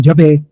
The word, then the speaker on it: Yahvé: por toda Europa medieval, la letra inicial J se pronunció según la lengua vernácula local, en lugar del latín. Sin embargo, la pronunciación Yahvé no dejó de utilizarse y hoy sigue siendo una manera correcta de referirse al Dios de la cultura judeocristiana.